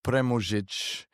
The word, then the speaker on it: Premužić: Yeah, and to be fair, Jason, if you wanted to pronounce the last part in its original language, which is Croatian, it will be premužić. And so then it stops sounding like pre-music because I'm not before music.